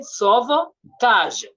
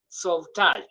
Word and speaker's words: sauvetage: So we say rapidement, we say lentement, we say sauvetage. Sauvetage. So it's like that you swallow the E. You don't say sauvetage.